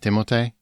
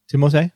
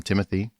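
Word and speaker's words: Timothée: either did you know his name is actually pronounced timote timote because he's french yeah french yeah but he actually doesn't mind when people call him timothy and like and this is probably why things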